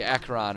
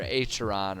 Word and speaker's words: Acheron: when it's something like Acheron or Acheron or however you want to say it, because there are about 15 different ways that are correct for pronouncing that like ACH situation.